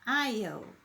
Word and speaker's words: aisle: Na verdade, quando você senta no corredor, ele chama aisle. Aisle, que é o que você, é o corredor, chama aisle. Repeat, please. Aisle, se escreve aisle, mas é o corredor ali, quem fica no corredor, né?